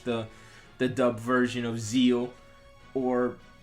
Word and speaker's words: Zexal: the dub version of zeal or yes zeal the x is silent it's a graphic but i guess in the dub they count the x i don't know i